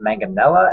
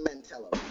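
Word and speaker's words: Mantello: We have Joe Manganella. Am I pronouncing that right? Manganella. Joe Mantel. Thank you.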